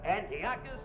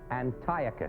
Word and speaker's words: Antiochus: in my production of Antiocus. You mean No, no, that that that's Antiochus.